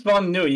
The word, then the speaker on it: Von Nui: Is it Von Nui, or am I mispronouncing it? It is Von Nui.